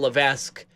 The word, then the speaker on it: Levesque: he's creating a real-life element of I'm Paul Levesque look at don't don't don't yeah thank you